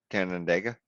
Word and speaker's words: Canandaigua: How do you pronounce that? Canandaigua.